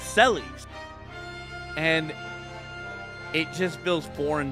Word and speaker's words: Celes: So my whole life I've been calling this character Celeste, but her like like I was calling Lock Locky for my whole life as well. Cies, but her real name is Cis.